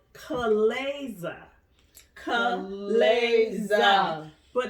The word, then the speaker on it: chalaza: of appears sperm light but it's actually called Co Laza come legs but it's spelled CH am a za Olathe and so